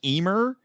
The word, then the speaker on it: Ymir: um this this creature the the yamir or emir or however you want to pronounce it i've heard it's been i've seen it pronounced and heard it pronounced several different ways i think harry hausen himself said pronounced it more like eemer or yeah or emir i think it's closer to that it's actually he actually